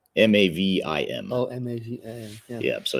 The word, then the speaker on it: Mavim: So despite the proper pronunciation you had, can you tell us how to spell Mavim, just so they can learn more about you?